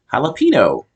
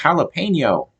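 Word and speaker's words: jalapeño: it felt more natural for me to say jalapeno and they kept saying no it's pronounced jalapeno it's funny that I'd be corrected like this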